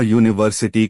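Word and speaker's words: university: अब अ यूनिवर्सिटी को देखिए, इसकी स्पेलिंग तो यू से शुरू है, पर बोलने पर आवाज यू य की आ रही है, और यह एक व्यंजन है, इसलिए यहाँ एन नहीं ए लगेगा।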